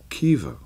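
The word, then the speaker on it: Caoimhe: then I have a a cousin called Kea which is C a o i m h e so the sound is uh Irish so it be qua or E there'd be a little you know what I mean a little dip thong in there rather than just flat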